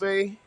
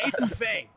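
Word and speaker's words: étouffée: etouffee. I'm just putting y'all on something. You feel me? And you know he's really about it because he went French with the pronunciation. he went etouffee.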